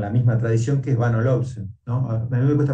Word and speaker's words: Bang & Olufsen: A mí me cuesta pronunciarlo, Bang o Olufsen, ¿no? Mirá, yo te digo porque un amigo tenía una gran afición por las cosas. Bang Olufsen. Bang Olufsen, ahí está, así como se debe pronunciar, ¿no?